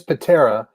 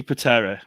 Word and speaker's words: Pitarra: And I guessed it might be Pitarra because I know that you guys over in the States, like, it's one of these things that I've always noticed, that the name Tara over here is always pronounced Terra over there. Yeah. So I thought, maybe it works the same on this name.